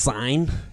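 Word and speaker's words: sine: But Dylan, it's actually pronounced sign. Okay, because it's a sign.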